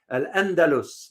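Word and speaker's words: الأندلس: They pronounce it here as Andalus, which is the Arab world, the Arabic word. I'm sorry, Al-Andalus. That's the Arab word.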